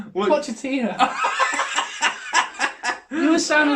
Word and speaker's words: Pochettino: What, Ponchetta? What? Ponchetta? What's his name? Ponchetta? This ain't getting edited. Say that again. Ponchetta. Now you're going to make me say it wrong. Pochettino.